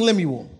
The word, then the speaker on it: Lemuel: King Lemuel.